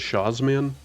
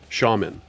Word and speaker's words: Shazman: Why would that be pronounced shaman? And if it's shaman, why not spell it shaman? Why does it need the Z? Oh, it's Polish.